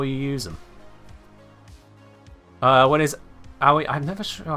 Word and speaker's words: Aoi: It's pronounced Aoi. Aoi. Aoi.